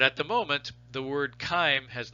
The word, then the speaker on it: chyme: the moment the word kyme has not surrendered to to modern english right so chyme is a is a latin word and and it is pronounced with a hard c right so c-h-y-m-e-chyme is